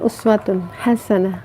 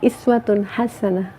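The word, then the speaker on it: أسوة حسنة: Tapi kalau di negara-negara yang dia riwayatnya itu riwayat kolun gitu ya, itu dibacanya bukan uswatun hasanah, iswatun hasanah ya. Iswatun hasanah. Kan riwayat bacaan itu ada beberapa riwayat yang itu dibolehkan. Nah ini uswah itu boleh dibaca uswatun hasanah, boleh iswatun hasanah.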